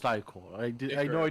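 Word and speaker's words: ichor: That's pronounced eyecore. I did I know I did it wrong the first time, but please please please he's saying it right there. Creature. It's eyeore.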